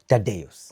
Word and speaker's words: Tadeus: Tadeus. As an artist, Tadeus. Yes. Yes. How do you spell that for someone who's like, what is that?